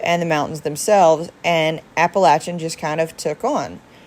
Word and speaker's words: Appalachia: were called Appalachian and the cultural reason for Appalachia is pronounced Appalachia um there's a third syllable like